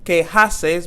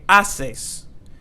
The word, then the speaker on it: haces: you doing queases and don't forget here that H is silent so we're not going to say que haces but we're going to say que asses so we start from